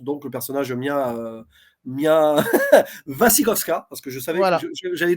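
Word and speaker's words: Wasikowska: le personnage Mia Mia vasikovska parce que je savais j'avais toujours mal prononcé son nom avant voilà je l'appelais vashi voska je crois voska mais c'est koska et elle est très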